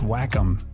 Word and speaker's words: Wacom: No, man, it's Wacom. No, it's Wacom. Pronounce wa like the Japanese word for harmony and com like computer.